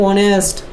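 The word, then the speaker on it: honest: उसी तरह ए यू, उसी ए 1 रुपी नोट एंड ऑनेस्ट। अगला शब्द का प्रथम लेटर क्या है, यह महत्वपूर्ण नहीं है, महत्वपूर्ण है उसके उच्चारण के प्रथम ध्वनि यानी फर्स्ट साउंड ऑफ प्रोनाउंसिएशन।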